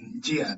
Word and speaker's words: njia: Yes, then the second one is njia. Don't pronounce letter N. Just say njia.